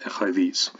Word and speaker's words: écrevisse: There's no other reason for fish to be in crayfish except that it imitates phonetically the second syllable or the last syllable of écrevisse.